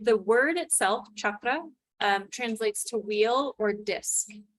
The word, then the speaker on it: chakra: So you've heard us say the word chakra. So it's that hard CH, and if you want to get really correct with the pronunciation, it's a little roll to the R as well. So it's chakra.